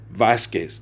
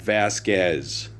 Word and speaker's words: Vasquez: His name is Gabriel Vasquez, not Vasquez.